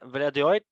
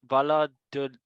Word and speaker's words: Valladolid: Getafe and Valladolid 2-3 for Valladolid.